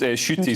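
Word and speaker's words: Ncuti: have assumed it was pronounced but apparently it's pronounced shooty so if anybody if i've got that wrong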